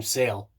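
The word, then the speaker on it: Saal: Yeah, you heard it right, Sale. It's spelled with S-A-A-L.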